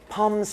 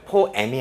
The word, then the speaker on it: poem: Thank you for sending your poems to me. poems 밑줄 그어주시고. 이 단어의 미국식 발음이 poem 이렇게 발음이 돼요. poem이 아니고요.